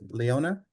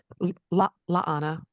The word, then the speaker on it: La'ana: Oh, so I was talking about how, and correct me if I'm mispronounce it, Leona? La'ana. La'ana, thank you.